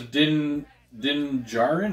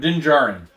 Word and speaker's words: Din Djarin: His name is Din Djarin? How do you say that? Din Djarin? Look at that name. He said Din Djarin? Din Djarin.